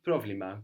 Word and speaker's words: πρόβλημα: problema, good.